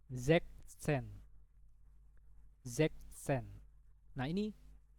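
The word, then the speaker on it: sechzehn: Jadi bacanya Zeksen.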